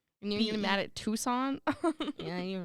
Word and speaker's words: Tucson: and most were in Tuscon Tucson yeah Tucson you really pronounce that c in there it's just Tucson that's so dumb I